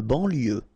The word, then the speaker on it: banlieue: De banlieue. Okay, final E not pronounced. So I-E-U, I-E, L, lieu, banlieue.